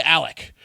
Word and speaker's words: Alex: South Carolina for over 100 years, whose name is spelled Alex, A-L-E-X. Apparently, he goes by Alec or Alec.